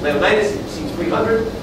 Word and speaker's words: Leonidas: Leonidas, that's how you pronounce it. Leonidas, you've seen 300.